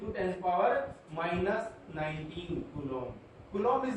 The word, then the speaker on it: coulomb: 1.6 × 10⁻⁻19 कूलम। कूलम इज द SI unit of charge, कूलम। इसको कैसे कूलम बोलते हैं? ये जो बी है ये साइलेंट रहता है, कूलम।